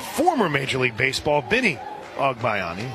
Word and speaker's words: Agbayani: Major League Baseball Benny Ogbayani? It's the first pitch as well. I did, but I also, in my time always thought it was Benny Agbayani. The pronunciation guide for BYU has it as AWG.